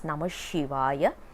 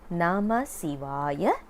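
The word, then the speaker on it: नमः शिवाय: to call it as Namah Shivaya or Shivaya Nama or Namaha or Namakha. We are not supposed to use any of these because that is not classified as mantra. It will all become like pronouncing a name. If you want to really get the benefit of the mantra, we need to say as Nama Sivaya or Sivaya Nama.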